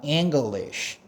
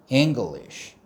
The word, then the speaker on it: English: 이것도 ng도 받침 이응 발음을 내지만 그냥 n도 때로는 받침 이응 발음을 냅니다.